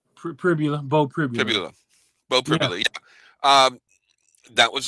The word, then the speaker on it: Pribula: I think it's Pribula. Bo Pribula.